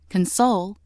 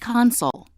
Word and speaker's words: console: When word three is used as a verb meaning to comfort, it is pronounced console. Console.